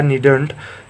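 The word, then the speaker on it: needn't: यानी नीड नॉट की जो शॉर्ट फॉर्म होती है, इसका जो करेक्ट प्रोनाउंसिएशन होता है वो होता है नीडंट।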